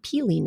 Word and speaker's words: pili: she recommended to me this nut called a peeling nut now this is spelled p-i-l-i and it is pronounced like p-e-e-l-y-piling